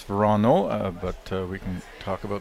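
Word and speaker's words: Wranå: Christopher Sundgren, Rasmus Vrana, Oscar Eriksson, Nicholas Edin. It's Verano, but we can talk about the pronunciation shortly.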